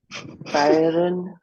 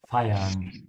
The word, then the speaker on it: feiern: Feiern. Feiern. Sounds like fire.